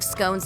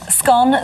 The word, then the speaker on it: scone: 2016 survey found that 51% of Britain pronounce it to rhyme with gone whereas 42% pronounce it to rhyme with bone the former is a